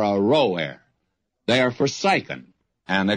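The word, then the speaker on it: Aroer: to go back and give you another pronunciation of that the cities of r-o-air are row air are Forsaken and let's settle for a rower they are Forsaken and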